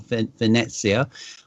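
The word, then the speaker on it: Venezia: they call it or venecia which is the correct pronunciation for Venice and I must admit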